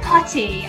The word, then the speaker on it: potty: Yeah, go potty. Yes, no, if you're saying it with an American accent, it's potty with the D sound, which is just an annoying thing we do, pronouncing our T's like D's.